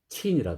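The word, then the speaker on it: 秦: 그래서 그 진나라가 중국 발음으로 하면 친이라 그러거든요. 친. 그래서 그가 유래돼서 나중에 유럽 사람들이 차이나 이렇게 불렀다고 그러는데, 자, 오늘 친나라가 있었다.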